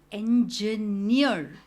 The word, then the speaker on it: engineer: इंजीनियर में stress on the last part, इंजीनियर, इंजीनियर।